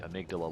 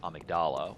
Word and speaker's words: amygdala: Like, I think it should be amygdala like the body part. Some characters in the game seem to pronounce it as amygdala, which confuses the heck out of me.